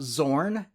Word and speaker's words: Xorn: team at different times let's talk about Zorn and Zorn spelled with an X and A Z respectively the odd thing is